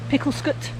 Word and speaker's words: Picklescott: So I think the early spelling of Smethcott, Betchcote, Picklescott, they have C-O-T-E on the end, and now they have S-C-O-T-T, but I've always pronounced them like they have C-U-T at the end, cut. So Smethcott, Picklescott, Betchcote. It's always how I've pronounced them, and I've heard, you know, relations pronouncing it, so it's obviously a Shropshire pronunciation.